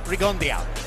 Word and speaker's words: Rigondeaux: And I would have gone there too, except that Guillermo gives it a little Cuban flavor. He says it's Rigondeo, just as Max just pronounced.